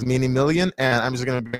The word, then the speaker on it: DMinimilian: And I've always gotten his name wrong before because I always call him Mini Milan. But yeah, his name is DMinimilian, and I'm just going